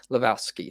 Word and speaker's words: Levesque: Chief Content Officer Paul Levesque. I can never say his name. Paul Levesque. I can never ever say his name. As is silent, it makes it tough.